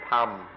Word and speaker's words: ธรรม: In Thai, they don't even try, they just pronounce it tham.